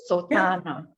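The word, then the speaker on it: sotthānaṃ: above the particular letter, you have to lengthen it. It's a long A, not a short. So I have to drag it a bit. Is it? Yeah. Sotana. Is that how I pronounce it? Sotana. Yeah, much better.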